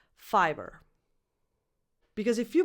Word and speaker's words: Fiverr: And then they added an extra R just for the sake of it. But it changes nothing pronunciation-wise. Fiverr. Because if you pronounce this fever, you're actually saying number 10, fever.